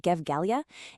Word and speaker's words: Gevgelija: This AI music revolution was led straight out of the small town of Gevgelija, that's pronounced Gevgelija, in the Republic of Macedonia.